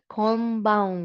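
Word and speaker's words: こんばんは: Pero pronounce it as wa combawa wa.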